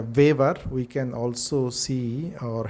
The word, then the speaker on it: Weber: discuss about Max waver this uh name is uh pronounced as a vaver we can also see